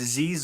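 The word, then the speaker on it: Xizor: You know, let's see if it's as bad as Shizor's name. Uh, at least, well, I'm saying you pronounced it right. I pronounced it right. It's Zizor or Zizor.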